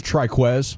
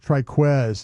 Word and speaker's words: Trikweze: Triquz. Triquz is how we say that.